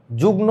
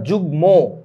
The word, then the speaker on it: যুগ্ম: তো অযুগ্ম অবস্থায় থাকে যুগ্ন না উচ্চারণটা যুগ্ম যুগ্ম মানে জোড় বুঝেছো যুগ্ম